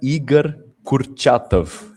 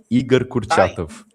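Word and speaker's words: Igor Kurchatov: Vou deixar Mateus pronunciar o nome que vai pronunciar mais melhor do que eu. Nós temos aí Igar Kurtatov. Igar Kurtatov.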